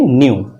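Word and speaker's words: knew: से कंफर्म होती है न्यू के new0 हां पर के साइलेंट होता है तो हम बोलते हैं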